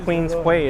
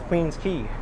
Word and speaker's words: Queens Quay: It's not Queens Quay, it's Queens Quay.